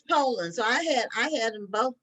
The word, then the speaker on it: Polland: So it's Poland. So I had them both mispronounced because I thought it was Pollen because it was two L.